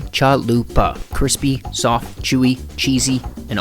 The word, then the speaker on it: chalupa: want to make a chaluper do you well first off pronounce it right Mr or ma'am chalupa crispy soft chewy cheesy